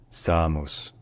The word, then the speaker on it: Samos: mountains and historical sites so in Greek this island is called Samos Samos SOS Samos all right if you